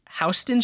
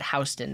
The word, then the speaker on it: Houston: York City there's a Houston Street but you pronounce it Houston not Houston do you know what